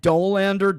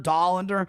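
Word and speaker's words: Dollander: I don't I think it's Job and and Dolander. Doander, however you pronounce it. Col I rhyme it with Colander.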